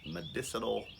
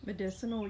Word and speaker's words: medicinal: but elder berry are medicinal that's not how you pronounce that word is it medicinal yeah but medicinal berries